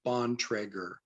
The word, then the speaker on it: Bontrager: The correct pronunciation of my name is Bontrager. Bontrager. It's an old Amish name, so my great grandparents were Amish.